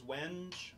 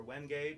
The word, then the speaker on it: wenge: The fretboard is wenj or wenge, depending on how you pronounce that.